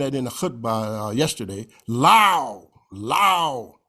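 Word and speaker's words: لو: The hypothetical if, and I mentioned that in the khutbah yesterday, lao, like ow, lao. The particle lao rhymes with the English word wow.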